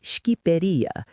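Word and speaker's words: Shqipëria: They call it Skiperia. It literally means land of the eagles, which is objectively awesome.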